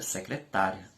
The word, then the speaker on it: secretária: secretária a fé cretaria Observe que nesta palavra a sílaba tá é uma sílaba forte dentro da palavra secretária é uma sílaba em relação às outras com maior intensidade E quando pronuncio a